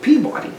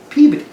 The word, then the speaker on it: Peabody: outside the bars outside Boston and it's not pronounced Peabody now it's spelled people like we would pronounce and yeah many people say that but the local people taught us that is Peabody so anyway there's your lesson for this video